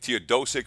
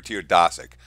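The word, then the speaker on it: Teodosić: a milot steered Asik I believe to your dough sick or to your DA sick it's gotta be a no because that would be the Eastern European pronunciation meal osteo dosuk the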